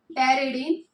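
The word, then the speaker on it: pteridine: टेररिडीन ये दोनों मोइटी जो है आपस में कंबाइन होंगी। और क्या बनेगा हमारा? Die hydro टेररिक acid. डाईहाइड्रोपैरिक acid P silent रहता है। ठीक है? इसमें बोलते हुए टेररिडीन।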